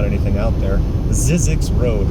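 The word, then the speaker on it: Zzyzx: its name there really not anything out there zizzi Road it's spelled I believe z z as in zebra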